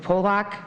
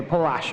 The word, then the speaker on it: Pash: Two, consider for approval a cont a contract with Pock. Is that is that how you say it? Pock. Pock. Patch. Patch. Okay. Pash. Okay.